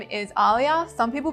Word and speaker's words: ALIYA: that's pretty cool my my artist name is Alia some people pronounce it differently some people pronounce it aah anyway but it's Alia and I originally got the name from my